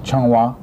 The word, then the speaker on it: Zhonghua: How do you spell that? C-H-O-N-G. C-H-O-N-G. W-A. W-A. Benevolent. Okay, it's Zhonghua.